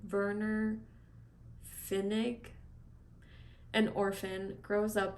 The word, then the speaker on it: Werner: Germany weren't that's probably I know Germans pronounced their W's like these so it's probably Werner Finnick an orphan grows